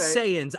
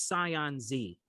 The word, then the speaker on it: Saiyans: don't know why is it so it is saiyans i thought it was scion zee no it's not oh anyone